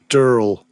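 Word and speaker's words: Durell: And we know how to say the name of the publisher nowadays. It is Durl.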